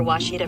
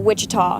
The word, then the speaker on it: Ouachita: Is it pronounced Oakita? Searching for Ouachita Baptist University. Back in Texas, everybody pronounces it Wichita, but really, it's Ouachita.